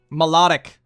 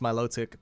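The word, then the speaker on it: Milotic: can't do steam because that's like Volcanion thing melodic or malotic as some people say according to the guide book it's pronounced malotic but Pokemon pronunciations are not consistent so who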